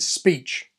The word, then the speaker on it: speech: So if I delete the S, the remainder should be peach, right? Wrong. It's speech.